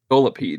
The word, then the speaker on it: Scolipede: Like I'm liking Skolipede. Is that how you say it? Scolipede.